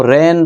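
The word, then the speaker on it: rein: को जन्म दिया है इसको रेन प्रोनाउंस किया जाएगा इसका मतलब है लगाम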